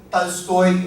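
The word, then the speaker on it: Толстой: Aqui a gente está falando de Pushkin, Gogol, Tolstói. Vocês veem que a minha pronúncia Tolstói, vocês já tomam eu Tolstói.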